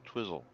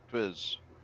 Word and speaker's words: Twizzle: TLE on the end. Not an L. TLE. Okay, look at his phonetic pronunciation though. Yeah, Twizzle. Yeah, you said Twiz.